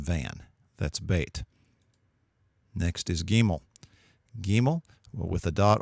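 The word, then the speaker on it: גימל: or if you see it without the dot pronounce it like a V as in van that's bait next is gimel gimel well with a dot or without spre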